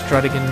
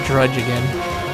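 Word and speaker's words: Druddigon: I don't know if it's Drudigan, Drudigon, Drudgigan, no, it's not Drudgigan. I've heard this thing being pronounced so many different ways. I just call it Drudigan.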